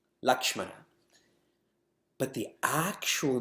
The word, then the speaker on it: Lakshmana: And people spell it with L-A-X. M-A-N. There's no X in any Indian language. Not Avadi, not Sanskrit. So then we spell L-A-K-S-H-M-A-N. Lakshmana.